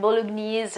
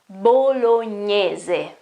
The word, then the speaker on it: bolognese: Now, the way you pronounce bolognese is amazing. It's very, I don't know, it's quite fascinating, like bolognese or something. It's amazing, but it's not correct. Okay, bolognese the word bolognese means that lasagne come from Bologna. Bologna is a city here in Italy, okay, and the correct pronunciation is bolognese.